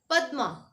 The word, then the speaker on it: पद्मा: द के नीचे देखो हलंत लगा है ना, तो द जल्दी बोला जाएगा, ये पद्मा नहीं होगा, इसको कहेंगे पद्मा। द आधा प्रोनाउंस होगा, आधे द का उच्चारण होगा पद्मा।